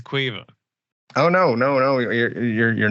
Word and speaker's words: Kyiv: I think what you mean is Quiva. Quiva. Yeah. Kyiv is Quiva.